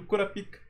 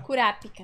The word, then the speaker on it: Kurapika: Kurapika. Kurapika, não é Kurapika, é Kurapika. Corrigiram a gente, né?